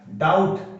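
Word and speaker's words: doubt: डाउट, इसमें B silent है, डे, आउ टे, डे, आउ टे, डाउट।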